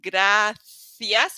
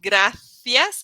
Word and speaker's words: gracias: graas so thank you this one is a little bit trickier in the pronunciation so it's graas and here in Spain it's going to be with a th sound graas now to practice pronunciation